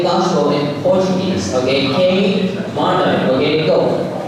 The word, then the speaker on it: queimada: In Portuguese is K mother, right?